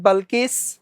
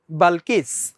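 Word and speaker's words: Balkis: করবে never queen like বালকিস এই উচ্চারণটা হবে বালকিস আমরা কে আমরা ঐতিহাসিকভাবে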